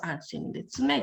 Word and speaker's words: Anshin Ritsumei: So that means it's the combination of Anshin and Ritsumei, and it's pronounced Anshin Ritsumei.